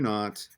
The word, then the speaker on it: naught: of T Q naught that little zero is pronounced naught is the discharge at